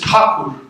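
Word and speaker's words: ঠাকুর: The way he would pronounce his last name and the way people in Bengal would is Thakur. The English anglicized it to Tagore, and the Spaniards will call it Tagore.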